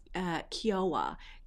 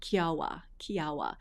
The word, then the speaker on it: Kiowa: So The first one that I want to share with you guys is this one that is called Kiawah. Kiawah.